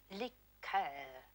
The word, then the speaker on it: liqueur: When referring to a cordial, we use the French pronunciation. Liqueur, Miss Tinsley.